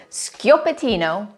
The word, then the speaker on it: Schioppettino: you pronounce this word if you said scatino you are right that was sko patino hi there I'm jacine